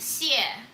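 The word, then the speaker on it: Xie: my last name is pronounced sia and if you say it twice it means thank you in chinese now hi dubai percy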